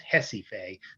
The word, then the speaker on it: Recife: of recife recife is hesife that's how the portuguese pronounce it they pronounce it with the h sound hesitate it you know